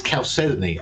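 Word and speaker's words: chalcedony: to pronounce it till it's like it's caly apparently although I wouldn't bet my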